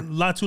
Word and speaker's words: Latu: I said it wrong yeah but lat yeah latu latu from he gave him a long day I'm